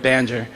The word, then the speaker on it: banjo: among the slaves there was a bandor, or as they pronounce the word, banjo.